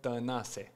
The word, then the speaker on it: Tanase: In Romania, it's Tanase. Tanase, okay. Yeah, but English people don't have the and it's harder to get it.